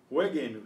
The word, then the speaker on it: jueguen: We have to put this silent U in to make this a hard G before the E, because you know, otherwise, you remember, it's pronounced as in gemelos.